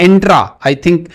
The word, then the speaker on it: Entra: Project Volterra के साथ ही Microsoft ने एक और प्रोजेक्ट लॉन्च किया है, उसको कहते हैं वो प्रोजेक्ट एंट्रा। आई होप कि मैं इसको सही प्रोनाउंस कर रहा हूं।